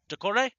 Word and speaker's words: Dokore: We're actually getting a check on pronunciation right here. We have one of our basketball players who's from France who's checking to make sure I got the Dokore? Dokore. Okay, we got it right.